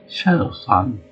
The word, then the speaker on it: Shadow-san: And I like to get Japanese guys to play Shadow-san, which is pronounced sun, like sun, and Coach Bunch is saying, I know that's the actual just your American isms, but that's fun.